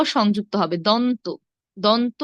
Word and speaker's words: দন্ত: মূর্ধন্য স দন্ত স আমরা আসলে অনেকেই দেখুন উচ্চারণ করে তালিব্যস মদিনাস্য এগুলো ভুল সঠিক কি হবে তালব্য তালব্য তালব্য স তারপর মূর্ধন্য স তারপর দন্ত স দন্ত স তালব্য স মূর্ধন্য স দন্ত স এভাবে হবে হ্যাঁ এখন তিনটি স